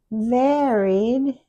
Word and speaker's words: varied: Varied is a short A and it doesn't follow the rule.